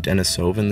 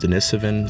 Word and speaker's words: Denisovan: well i just realized i've been saying denisovan this whole time when correctly it's pronounced denisovan so i'm going to be